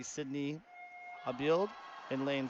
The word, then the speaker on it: Abild: It's A-B-I-L-D. Abild is what I'm going to say.